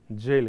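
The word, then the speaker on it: gaol: य गल है नहीं इसको ब्रिटिश लोग जेल ही पढ़ते हैं जेल ही पते है जस्ट द स्पेलिंग इ different know the letters are different but they read it just like जेल तो इसे जेल ही पढे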